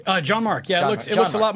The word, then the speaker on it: Gianmarco: Did I pronounce that correctly? Gianmarco.